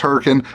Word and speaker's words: Hurricane: It's pronounced Hurricane, spelled hurricane.